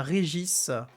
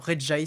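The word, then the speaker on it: Regice: OK, on a Régis ou alors RJ si on le prononce correctement puisque ain la glace évidemment mais c'est plus rigolo de l'appeler Régis comme le rival de Sacha.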